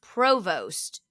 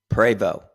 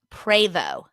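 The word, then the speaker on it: Prevost: thought it was pronounced Provost but I'm saying that wrong say it how do you say it and this is p r e v o s t preo preo yeah the t is silent what kind of a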